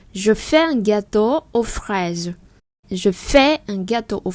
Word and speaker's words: fraise: La fraise. Tiếng Anh chúng ta có chữ fresh. Bây giờ fraise. Bây giờ chúng ta mở cái miệng rộng hơn một chút.